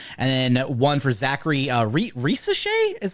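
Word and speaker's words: Risacher: We have one pick for Rob Dillingham from Ricky O'Donnell, SB Nation, and then one for Zachary Risochet is how you say it last week.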